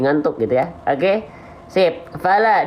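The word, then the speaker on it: فَلَ: Fala, dibuka mulutnya ya. Jangan lupa lam itu huruf yang tipis. Ya. Lam itu huruf yang tipis. Oke? Fala. Nah, sambil senyum. Fala. Ya, bukan lo. Oke? Sip. Ya. Jadi dilafalkannya sambil senyum. Jangan dilafalkan lo tapi la.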